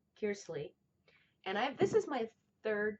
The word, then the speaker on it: Kearsley: So, anyways, I'm reading this book called The Splendor Falls by Susanna Kearsley. I'm saying it wrong. Kearsley.